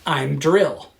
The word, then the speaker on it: Im'dril: It's I'm like him without the H, and then drill like the hand drill. I'm drill.